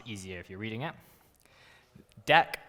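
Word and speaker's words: deque: if you're reading it deck which is i think how you pronounce it but it's a double-ended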